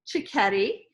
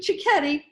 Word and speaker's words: Cicchetti: Now, I decided to bring Wendy Cicchetti. Did I pronounce it right? Yes, you did. Wendy Cicchetti, good Italian name.